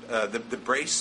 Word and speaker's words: Braess: There, just to name a few, there's something called the Brace Paradox, BRAESS. Am I pronouncing that name correctly? Yes, which sounds, I know,